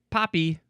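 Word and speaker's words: papi: Next is Poppy. Not the plant. This is spelled P A P I.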